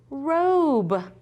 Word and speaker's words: robe: That silent E is going to make the O say O. Ready? Obe. What is it? Robe.